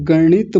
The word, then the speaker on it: गणित: Example देख लीजिए, जैसे एक शब्द होता है गणित, तो जब हम गणित बोलेंगे तो जीभ ऊपर जाएगी और मूर्धा से जाकर के टच होगी जब इसका उच्चारण होगा।